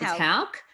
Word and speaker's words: Hauck: Rachel Hauck, is it Hauck? Mm-hmm. Hauck? I always get her name mixed up. It's Hauck. Good, I got it right.